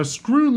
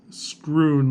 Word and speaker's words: Schroon: Now, Schroon Lake is not spelled the way you'd think. It is spelled S-C-H-R-O-O-N, not screwn like the past tense of screw, as in a screw.